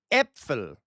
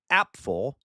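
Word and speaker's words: Apfel: So, epil epil would be how you pronounce this epil. Okay, because it has the e sound. Okay, so epil. All right, so that would be apple in German. Okay, epil. All right, not apple.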